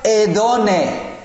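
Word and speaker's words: ἡδονή: Literalmente, esta palabra en el idioma original de la Biblia, el griego, se pronuncia edone, edone.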